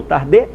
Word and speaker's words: Tarde: que foram gabriel tarde eu falava gabriel tarde mas o francês se supõe que seja gabriel tarde e com o outro